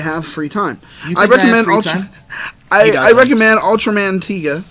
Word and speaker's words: Ultraman Tiga: I recommend Ultraman Tiga, right? Yep. All right, cool. You said it right. Ultraman Tiga, of course.